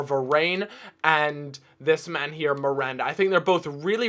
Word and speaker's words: Miranda: think I've said that no Miranda that is how you say his name um so yeah that's